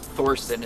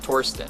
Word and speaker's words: Torsten: Torsten Heins and actually it's not Thorston it's it's Torsten it's a silent h but seriously that's the